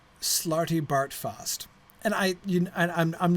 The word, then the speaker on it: Slartibartfast: funny but I think it's funnier if all three of the A's have the same sound which is how it sounds when somebody English reads it Slartibartfast I so did that